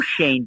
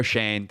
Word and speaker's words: Schoen: that's my bad Joe Shane that's correct even though it's spelled like shown it is pronounced Shane so I my bad